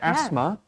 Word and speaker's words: asthma: Yeah, asthma. There's the H is silent in that word, and then eczema.